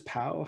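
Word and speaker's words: Pau: for was how selectors pow how do you say that uh po and then the team the team name is uh section palo yeah that's it everyone just calls it poe okay so what was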